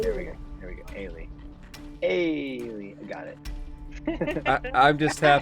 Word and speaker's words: Eilidh: Eilidh. There we go. Eilidh.